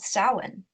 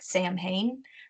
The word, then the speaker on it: Samhain: not it is called soin sa M H AI and it sound it looks like it sounds like Samhain but it's actually pronounced Allen right in the